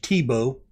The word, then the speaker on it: Thibaut: I don't know if you pronounce that last T. I'm pronouncing that with the Cajun French. Thibaut. Not like Tim Tebow, but Thibaut. Thibaut. Thibaut. That's how I'm pronouncing it.